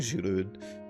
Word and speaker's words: Giroud: that recently moved away last season, I think, Giroud. And, you know, you learn how some things are pronounced.